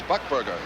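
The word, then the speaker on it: Buchberger: stick up there South buckberg is out last year is book bger no yeah a lot of controversy on how to pronounce it but the NHL guide says buckberg let's go with that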